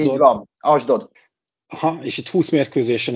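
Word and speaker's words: Ashdod: során ühüm a legsikeres segíts légyszi a pontos kiejtésébe a csapatnak ugye ez az fc asdod asdod így van asdod aha és itt 20 mérkőzésen egyébként három gólt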